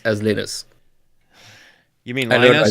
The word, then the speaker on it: Linus: But one thing that I don't negotiate with and I really like to not mess up is pronouncing Linus as Linus.